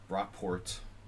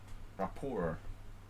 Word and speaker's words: rapport: it's d6 yeah well if you pronounce it like rockport you know it sounds kind of english but rapport it's french thanks thanks masterbate for